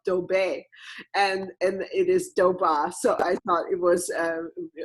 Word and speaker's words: Dobbe: know how to pronounce her name because it is spelled obey and and it is doba so I thought it was really fun to